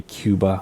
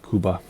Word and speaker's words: Cuba: And Cuba is how you say it. I know the United States, we just say Cuba, but it's Cuba.